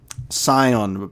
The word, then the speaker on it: Scion: And he finally got verbally named, and I'm pronouncing it correctly. Scion, a beast of flesh and blood.